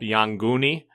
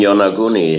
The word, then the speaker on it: Yonaguni: contact with brought up Yanguni off of Okinawa? The Yanguni, the underwater pyramids, etc.? You mean Yonaguni? Yeah, I pronounce it different, yeah.